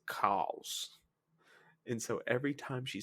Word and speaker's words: chaos: a crawling chaos, but they don't say chaos. It's spelled chaos, but they pronounce it cows.